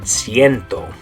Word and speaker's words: ciento: Good, ciento. The C in there is making that soft C sound, the S sound.